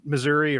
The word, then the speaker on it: Missouri: in Kansas and in Missouri or Missour however you want to say it you know depending which part you're from and uh you know